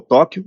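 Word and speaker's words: Tokkio: projeto chamado projeto Tóquio se pronuncia igual ao Tóquio no Japão mas escreve to kk e o projeto Tóquio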